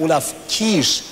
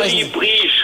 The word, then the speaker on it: Olli Briesch: Und zwar aus Köln meldet sich hier der Olaf Kiesch. Ist das richtig ausgesprochen, Olaf? Etwas falsch. Ah, dann sprechen Olli Briesch heißt das.